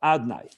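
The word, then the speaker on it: אדני: We pronounce it Adnai. Also, not exactly Adnai. Adnai is a way of a little twist, so we shouldn't say the word, the holy name.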